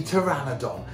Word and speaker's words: Pteranodon: hello to this baby Pteranodon how amazing is she / name is teri but with a silent P so we actually call her teri ha ha hello I'm